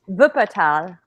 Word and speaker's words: Wuppertal: How is it pronounced? Wuppertal.